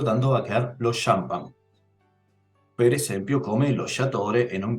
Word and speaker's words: champagne: atención a la pronunciación Cómo pronuncio esta palabra francesa champán es decir como si comenzara con una s y una H Entonces en ese caso